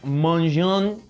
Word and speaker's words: Maignan: Pero Mike Maignan con lo que está haciendo con el Lille, Mike Maignan, creo que la pronunciación correcta, del portero del Lille,